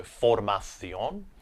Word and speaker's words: formación: So formación.